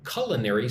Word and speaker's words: culinary: Venezuelan chefs are becoming well known in international culinary circles. Colin, four syllables, but the emphasis on the first syllable.